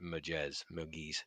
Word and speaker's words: Murgese: The Italians would pronounce it Murgese.